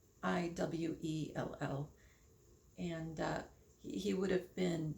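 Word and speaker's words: Radziwill: He also, what I really think he is Prince Anthony Redwell, and I probably said his last name wrong. It's Radzwiell.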